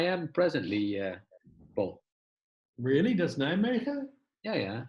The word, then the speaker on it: Nijmegen: That's Nijmegen? Yeah. As the British say, Nijmegen.